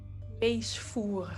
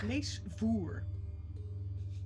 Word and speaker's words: Leesvoer: You can find me as Leesvoer, which is Dutch and unpronounceable in English, but you can see it right there. Leesvoer. Leesvoer. Reading. Don't forget to really roll that R.